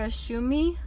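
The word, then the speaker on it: Ohsumi: Asumi I think is how you say his name for his work and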